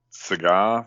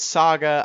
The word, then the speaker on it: SaGa: a naive question yes are we pronouncing it cigar for a deliberate reason and it's actually saga or is it cigar it's saga i'm trying to do a